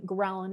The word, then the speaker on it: ghrelin: So the appetite hormone ghrelin, it's spelled GHRELIN, which you can think of growling.